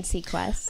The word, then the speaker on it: Sechrist: Sechrist is S-E Christ. That's how you spell it. It's not how you pronounce it. And I'm not related to Ryan Sechrist. It's Sechrist.